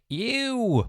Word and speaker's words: EWWW: is the founder of the ew plugin it's spelt e w w w you may have